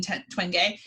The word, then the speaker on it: Twenge: book i jen by jean twenge which i believe is her uh is how i say her name doctor gene twengay who is a researcher